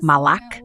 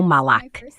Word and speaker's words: Malak: Eu gosto que meu nome seja pronunciado como Malak, não Malc.